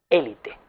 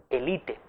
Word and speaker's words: élite: Es lo que sucede, por ejemplo, con la palabra élite. Lo utilizamos como esdrújula, por eso lo acentuamos, ¿verdad? Pero el DRAE nos indica que también podemos utilizar la forma elite. Es una forma llana, por tanto no lleva tilde porque acaba en vocal. Y es una forma que procede del francés, una voz extranjera.